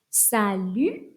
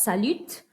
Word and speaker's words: salut: work on your pronunciation salute not salute salute the t is silent and we have cuckoo